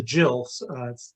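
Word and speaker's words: gill: a quarter quarter pint uh known as a jill looks like it looks like gil but it's pronounced jill is that's what i've carlin has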